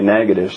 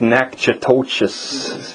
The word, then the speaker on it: Natchitoches: learned but from an inmate that how you pronounce this city is he told me negatives that's how they say no you tell me